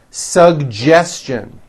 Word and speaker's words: suggestion: educate next one suggestion this one's also a bit tricky sugestion suggestion very good now the American J